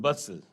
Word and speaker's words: bustle: एक है BUSTLE, इसको हम बोलते हैं बसल, तो ये यहाँ पे T साइलेंट है।